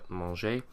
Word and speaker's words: mangeai: we get je mangeais, which is really strange because to start with a soft j sound and then to go to a hard g sound is a little bit strange. So just as we did in the present tense, we add an e to soften the g, je mangeais.